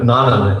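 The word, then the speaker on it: Nonin: Nonan is actually the correct pronunciation.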